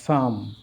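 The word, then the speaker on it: psalm: আমাদের খেয়াল রাখতে হবে যদি পিএস থাকে মানে ওয়ার্ডের শুরুতে যেমন সাইকো এই পির উচ্চারণ হচ্ছে না সাইকি পির উচ্চারণ হচ্ছে না সাম সরা সরিক সরিয়াসিস সিউডোমিন সিউডোনিম এবার অর্থগুলো সাইকো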